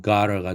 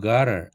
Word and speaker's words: gotta: 줄여서 I've 이렇게 하고 got to 이것이 발음되면은 gotter가 되죠. 표기도 GOTTA로 표기할 수도 있다고 그랬죠. 구어체적으로는 그럴 때 발음은 I've gotter 이렇게 되지요.